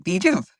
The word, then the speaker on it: VJUV: to vuv you know and and uh it's pronounced vuv you know the pelvic has been the number